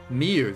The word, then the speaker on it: Miu: Miu, that's how you say her name.